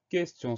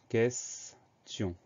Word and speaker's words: question: Alors le E sans accent se prononce E, parce qu'il est suivi de deux consonnes, le S et le T.